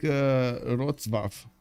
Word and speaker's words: Wrocław: It's pronounced more like Wrocław.